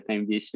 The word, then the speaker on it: Tembice: Valeu, pronunciou correto, tá certinho, é Tembice mesmo.